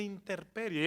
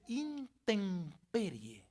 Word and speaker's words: intemperie: tirando la hermana y no se dice interperie es verdad yo dije interperie se dice intemperie recuerde que enfatizando la m porque antes de p se escribe con m y me dio una